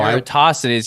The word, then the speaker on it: Eratosthenes: He says, MCToon, are you the Eratosthenes of our time or more like a Newton? Eratosthenes? No, Eratosthenes.